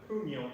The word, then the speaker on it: puño: And the third way is the end of the stick called puño, in Filipino martial arts.